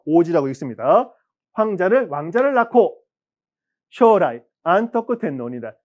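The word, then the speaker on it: 安徳: 왕자를 낳고 쇼라이 안토쿠 텐노니다 장래에 안덕 천황 안토쿠라고 읽는 우리는 안덕이지만 일본 발음은 안토쿠라 들린 겁니다.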